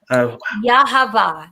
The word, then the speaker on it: Yahavah: And he also connected, I always mispronounce her name, Yahavah. Yahavah, like Yahavah. Have a nice day.